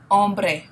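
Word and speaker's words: hombre: following noun plural El om remember we don't pronounce the h in Spanish okay El om all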